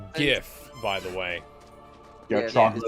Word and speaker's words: GIF: It's pronounced GIF, by the way.